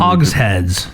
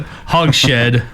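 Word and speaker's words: hogshead: name Hogs head originally Hogs heads okay well I'm dumb oh were you mispronouncing that I P out of it hog shed hog shed Hogs head I thought you were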